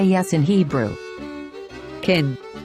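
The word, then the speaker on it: כֵּן: underneath the letter so pronounce it as the a of the word egg so now you know how to say yes in hebrew kin kin wow look at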